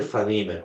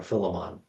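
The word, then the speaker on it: Philemon: the letter to Phileiman or Filimon depending on how you're feeling like you want to pronounce it.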